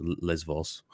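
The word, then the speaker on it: Lesbos: yeah minoan um uh in Greek B and V interchangeable so it's like in English we would say Les boss but the Greeks pronounce it as V so it's Les Vos but it's the same thing foreign oh there you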